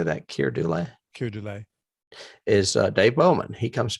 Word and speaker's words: Keir Dullea: Keir Dullea.